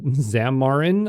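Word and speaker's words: Xamarin: of Visual Studio here then you have uh zamarin I think I'm pronouncing it right and it's a mobile app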